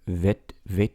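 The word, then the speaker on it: ב: If you take the dot out, it's a softer vit, like that.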